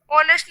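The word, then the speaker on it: honest: पहला देखते हैं my mother is अ ऑनेस्ट मैन, तो ऑनेस्ट में किसकी साउंड आ रही है, ए ओ की, क्योंकि एच जो है वो साइलेंट है इसलिए ये गलत है हमारा।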